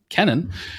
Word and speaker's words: Kennan: I'm embarrassed to say I don't know how to pronounce it. It's Kennan.